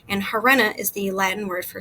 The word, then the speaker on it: harena: at the beginning well when an H is at the beginning of a word and is followed by a vowel you actually don't pronounce the h so the pronunciation would be Arena which gives us I